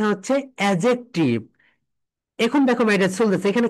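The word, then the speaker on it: adjective: এর পরে যে আসে, যদি কোনো ওয়ার্ডের ভিতরে ডি এর পরে যে আসে, তাহলে ডিটা সাইলেন্ট হয়ে যায়, ডি এর উচ্চারণ হয় না।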